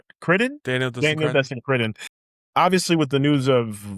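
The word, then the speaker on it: Cretton: But Crinton, actually, I said his name wrong. Critton? Daniel Destin Critton.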